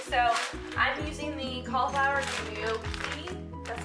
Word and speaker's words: gnocchi: It is pretty healthy, so I'm using the cauliflower gnocchi.